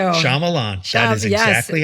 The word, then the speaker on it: Shyamalan: You guys, everyone go out and get Remain, the novel by Nicholas Sparks with Might, not Shakhan, Shyamalan.